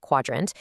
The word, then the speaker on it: Qdrant: Qdrant, and by the way, it's pronounced Quadrant, is an open-source vector database.